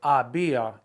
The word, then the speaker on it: había: Pensé que había, H-A-B-I-A, accent on the I.